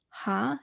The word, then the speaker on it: hana: three you often may hear them just say ha instead of hana because tur and set both have one syllable but hana has two syllables so some